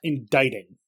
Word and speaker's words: indicting: Indicting. Oh, that's indicting. Yeah. Fuck. I know, the C is silent, it's so dumb.